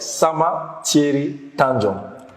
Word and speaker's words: Sama Thierry Tanjong: Some like Sama, like it's an R at the end. So my name is pronounced like Sama Thierry Tanjong.